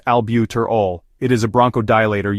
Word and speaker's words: albuterol: severe hypotension albuterol also known as ventolin is pronounced albuterol it is a bronco dilator used for Asma